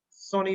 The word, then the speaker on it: Sonny: Sonny, I think. Yes. That's right. You pronounced it right. It's Sony.